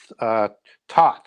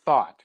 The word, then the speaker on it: Thoth: times and in Phoenicians he's called taught or thought depending on how you want to or they know you want to pronounce the H or not and Greece he was